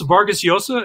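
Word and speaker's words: Vargas Llosa: for video services at syracuse university and marielle's vargas yosa is that how you pronounce his name yeah he came to seo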